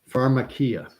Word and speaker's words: Pharmakeia: The Greek word he used was pharmakia, and it's spelled Pharmakeia.